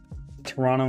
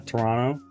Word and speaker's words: Toronto: It's true that most Canadian people pronounce it that way, but the second T is not silent.